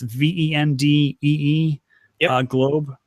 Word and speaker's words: Vendée Globe: Are you familiar with and I'm not going to pronounce it right, it's French, Vendée Globe race? It's VENDEE, yep. Globe.